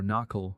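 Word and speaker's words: Naacal: cycle it was called the nakal or knle rhymes with Mall mystery school where they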